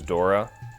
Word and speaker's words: Dora: bothers me that it's her name is Dora cuz it that doesn't rhyme with Explorer it's not Dora the Explorer I mean if you're from Boston it is Dora no Dora the Explorer dor the Explorer yeah go